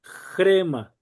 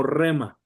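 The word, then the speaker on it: ῥῆμα: Entonces se pronuncia como J. R y aquí sería jema. Jema. Gema, algunos lo pronuncian solamente como rema.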